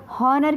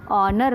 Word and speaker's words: honour: तरह नहीं पढ़ते हैं, हम इसे हॉनर की तरह नहीं पढ़ते हैं, हो का साउंड यहाँ पे नहीं आता है, हॉनर नहीं पढ़ेंगे हम इसको, हम इसे क्या पढ़ेंगे, ऑनर पढ़ेंगे। क्या पढ़ेंगे, ऑनर पढ़ेंगे। तो यहाँ पे ऑनर मतलब एच यहाँ पे कट हो गया है और ओ का साउंड आया है, तो ओ का साउंड